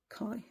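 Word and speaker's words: Kae: It talks about a spirit called Kai, or K-A-E, which I presume is pronounced Kai, which is amazing as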